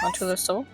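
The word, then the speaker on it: Montoul: Montul. You wouldn't pronounce the N. There's no E. Montul.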